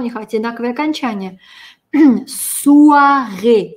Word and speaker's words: soirée: Soirée. Звук «уа» произносим вместе. Уа, уа, уа. Soirée. Потянули улыбки. Soirée.